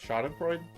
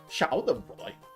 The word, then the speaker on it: Schadenfreude: Schadenfreude? Schadenfreude. Well, you gotta pronounce it like a German word, right? So you gotta go Schadenfreude.